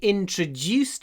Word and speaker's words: introduced: Здесь есть intro, который произносится через ш. Intro. И еще juiced, который можно произносить через дж. Introduced. Introduced. Introduced. Так что здесь, как мы говорим и как мы пишем, они отличаются.